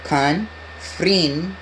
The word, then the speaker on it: Confringo: To pronounce it, you go confringo.